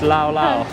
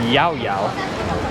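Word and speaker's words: Llao Llao: seen people eating it it's lao we've been told the right way to say it is yao yao yaoya here yeah not not la lao yao yao i've seen some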